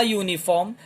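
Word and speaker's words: uniform: अ यूनिफॉर्म, again या की आवाज. यह क्या है? कॉन्सोनेंट साउंड है, व्यंजन की आवाज है.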